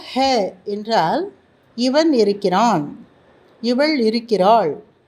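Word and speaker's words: हैं: அதாவது இறுதி எழுத்து அ என்ற ஒலியில் முடிவதாக இருந்தால் அது பாதியாக உச்சரிக்கப்படுகின்றது. சரியா? ய கலம் ஹே, இது பேனா.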